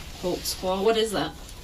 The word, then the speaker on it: Holtzclaw: I'll let your name there cuz I don't even know how to spell it. I can How do you say your name? Daniel Holtzclaw. Holtzclaw.